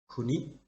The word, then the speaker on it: 国: as you see here the reading of kuyomi they say kuni and the word we see here you can say kuni if you just see